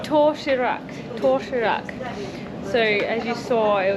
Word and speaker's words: 도시락: And how do I pronounce it? What is the name of it? 도시락. Toshirak. 도시락. Toshirak.